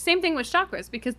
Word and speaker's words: chakra: it's same thing with chakras because the word chakra or chakra if you're saying it correctly is also from India